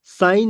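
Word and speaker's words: sign: आ रही है और एस आई जी एन साइन में जी की आवाज नहीं है अर्थात जी जो है साइलेंट अब सवाल उठता है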